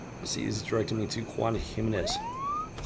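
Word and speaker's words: Juan Giménez: See, he's directing me to Juan Gimenez. Juan Gimenez. Juan Himenes. That's That's how you pronounce that.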